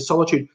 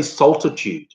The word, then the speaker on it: solitude: I just think of this because Heretic used to solitude. For ages, I used to say saltitude, like there was an extra T in there, and that's how I would spell it too.